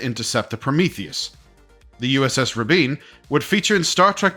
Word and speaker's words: Rabin: Contact these would be the USS rabina right sorry Raben no Rabin no no sorry I couldn't resist one last joke I know how to pronounce it it was named after